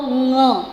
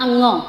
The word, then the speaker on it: ङ: उच्चारण देखिएगा, क, ख, ग, घ, ङ, इट इज़ नॉट अंग, ओके।